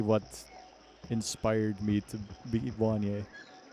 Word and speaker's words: Wanye: But it's not really what inspired me to be Wanye. It's based off of Wanya. Wanja. But I thought I'd Americanize it so people would find it easier to pronounce.